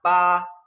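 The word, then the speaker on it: 八: Se pronuncia pa, pa, fíjense como la B tiene un sonido de P, de la P en español.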